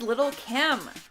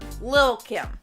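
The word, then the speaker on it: Lil' Kim: Up next, number 9 is Little Kim. Or Lil Kim. I feel like that is the proper way to say it.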